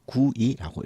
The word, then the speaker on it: GUI: 그래서 GUI는 우리가 흔히 9위라고 읽고요.